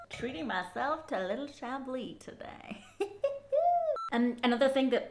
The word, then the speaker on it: Chablis: cais okay okay it's very for the S is silent in shabi why I'm getting so nervous I don't know but s is silent in shabi but it's sh it's a beautiful it's like